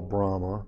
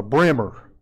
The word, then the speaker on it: Brahma: brahma which we call brahma but that's really not how he's it if you get down deep down in the south they call him a brimmer and that's really far away from the prince pronunciation but the brahma bull